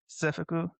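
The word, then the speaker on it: 制服: So school uniform and conquest are pronounced the same, which seifuku, which is these ones right here. So this one right here is the school uniform, seifuku, and this one is the conquest, seifuku.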